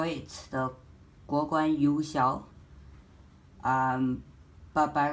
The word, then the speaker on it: Yuexiao: to be the GuoGuan Yuexiao. Now, a lot of people actually call it the GuoGuan Yuexiao, but by right, according to its Chinese pronunciation, it should be called the Yuexiao, not the Yuexiao.